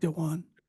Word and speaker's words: Dwan: Is that how you pronounce his name? Dwan. Dwan um just sent